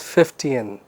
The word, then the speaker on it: Fichtean: about a very interesting uh story format called 50an Curve the pronunciation is 50n now so far we have talked about you